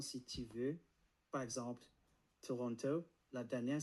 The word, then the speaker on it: Toronto: La fin est légère. Toronto.